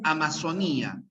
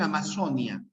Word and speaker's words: amazonía: sigla está bien miren en algunas regiones dicen amazonía nosotros los peruanos decimos amazonía pero en casi todas las demás regiones dicen amazonia ya algunos dirán Boomerang